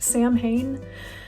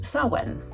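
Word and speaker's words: Samhain: quick and mention that, uh, it's not actually pronounced Sam Hayne. Um, everybody knows that. I know that now. It's pronounced sawen.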